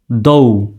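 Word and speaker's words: though: হলো ঔকার দৌকারে দৌ জি H silent থাকবে লেখার সময় লিখতে হবে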